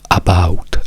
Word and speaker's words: about: about in inglese Insomma tutti sono portati a pronunciare la la prima a come una a quindi gli italiani direbbero About a a about No noi diciamo e e e about about about questo perché Perché la